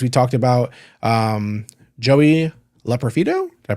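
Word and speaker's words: Loperfido: of those things we talked about um Joey L profito did I pronounce that right yep Joey L profo hey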